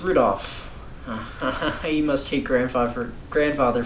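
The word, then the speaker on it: 留弗夫: tell you that that mess of characters is pronounced rudolph you must hate grandfather grandfather for giving him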